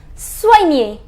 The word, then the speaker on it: soigner: It is soigner. It is soigner. I told you the pronunciation of OI is OA. So SOI becomes SOA and then near.